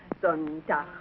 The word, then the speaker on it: Sonntag: Sonntag, Montag, Dienstag, Mittwoch. That is good. But pronounce the words broader, so Sonntag, Montag, Dienstag, yes?